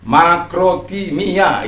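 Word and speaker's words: μακροθυμία: Satu contoh, makrotumia, ya. Makrotimia itu cara membacanya yang benar. Ada ipsilon di situ, kalau U, simbolnya U.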